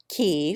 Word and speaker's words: Keynes: John, Poole for Powell, Weems for Wemyss, Cadogan for Cadogan, Mowbray for Marlborough, Key for Keynes, Marchbanks for Marjoribanks, Beauchamp for Beauchamp,